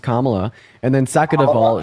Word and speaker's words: Kamala: really done first of all her name is pronounced Kamala and then second of all she was more